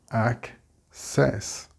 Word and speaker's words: access: So we split the double C and we get access. The stress here is on the ac.